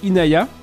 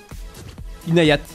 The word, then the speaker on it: Inayat: On dit Inaya, on prononce le T à la fin, c'est pas grave. Ok Inaya. Inayat, ok.